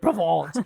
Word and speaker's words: Provence: So in Côte de Provence, the wines tend to, that's how you say it, Provence.